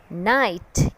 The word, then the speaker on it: knight: This is a story about a brave knight. K-N-I-G-H-T, knight. So my dear kids, अब आपको पता चल गया है कि साइलेंट के कौन कौन से वर्ड्स में यूज़ होता है और उसे कैसे प्रोनाउंस करते हैं.